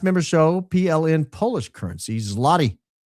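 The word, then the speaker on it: złoty: Zlotti is pronounced zote meaning golden. Why does it have an L in it? Oh, it doesn't. It's got a weird letter that we don't have.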